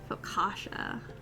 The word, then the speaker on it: focaccia: Focaccia.